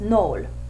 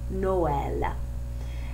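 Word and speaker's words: Noël: the word for Christmas if those marks weren't there it would be pronounced null but they don't want that they want two distinct vowels so they put the trema over the E and the word becomes Noel and then the next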